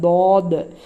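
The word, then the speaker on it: ض: சாத் சாத் சாத் இதை இந்த லெட்டர் என்னன்னா தமிழ்ல எப்படி ழ ஸ்பெஷலோ அந்த மாதிரி அரபிக்ல இந்த தாத் தாத் இது தேல் மாதிரி உச்சரிக்க கூடாது இது தேல் லைட் லெட்டர் இது தாத் நாக்கினுடைய இப்போ ஒரு நாக்குடைய ரெண்டு பகுதி ரெண்டு சைடு இருக்குல்ல ஓரங்கள் அது அதனுடைய மேல் பகுதியை போய் டச் பண்ணுச்சுன்னா இந்த தா தா ஆனு வரும் தாத் தாத் ஸ்பெஷல் இது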